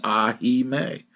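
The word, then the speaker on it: ahimè: you hear record this, they sing it as two syllables, but in his beautiful Italian phrasing, the diction comes out as the true three syllables of the word, which is "ah, he may."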